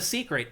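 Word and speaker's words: Seikret: You hop on the secret, it just follows those green flies to the next mission. They're called secrets. S e i k r e t. It's spelled differently, but pronounced that way.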